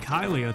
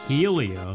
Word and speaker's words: Hylia: I know there's an official pronunciation, but you think Hylian, so it would be Hylia, right? Or Hylia? Hylia, yeah. See, that's the thing, I always said Lake Hylia as a kid. God, I'm adding all these syllables there that don't need to be there. And then I know people who said Helio, but that's definitely wrong. It has to be wrong.